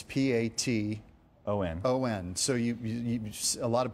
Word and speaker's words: Paton: It's P-A-T-O-N. O-N. So a lot of people say Patton.